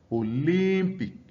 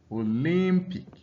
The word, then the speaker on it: Olympic: For words concluding with IC, the stress is placed on the syllable directly before this suffix. All right. So you have something like fantastic, fantastic. All right. Atlantic, Atlantic. Olympic, Olympic.